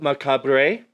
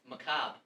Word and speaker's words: macabre: You're pronouncing that word wrong. Macabre. Is that how you say it? No. Macabre. I'm sorry. Is the R silent now? Yeah. Oh, is it center? I think it might be pronounced both ways. Did you know that it's from? Did you know that macabre is from the French origin, macabre?